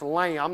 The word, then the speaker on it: Lam: Lam, interestingly enough, just pronounced Lamb, not spelled L A MB, but L A M.